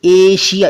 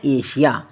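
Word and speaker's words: Asia: क्या कहता है कि अगर किसी वर्ड में एस के बाद आई ए आई ओ एन एस आई ओ एन यह तीन चीजें दिखाई दे तो एस का उच्चारण क्या करना है एस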